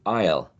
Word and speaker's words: aisle: The same with the word aisle, or the one the other aisle, the one that you find in supermarkets, right? What we call in Spanish pasillos, right? The supermarket aisles. Also, this is not pronounced.